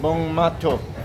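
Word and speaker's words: Buôn Ma Thuột: asking this gentleman how to pronounce bun matut bong mato. So from now on I I will attempt to call it bong mato instead of boon mat.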